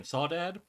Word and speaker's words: Sawad: a book called Southern sawad rhymes with cwad looks like it's spelled like someone misspelled the word sausage so spoiler if you